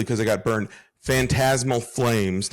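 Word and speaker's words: Phantasmal Flames: Fantasmal flames. Not Fantasma Flames.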